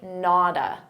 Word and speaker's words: not a: Not a, we can combine these together, but notice we have a T between 2 vowels. So a native speaker is going to pronounce that as a soft D and say nada.